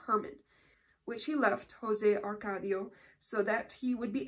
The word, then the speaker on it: Arcadio: little less than impossible at that time Jose acaradio buendia oh arcadio I'm saying it wrong promised to undertake it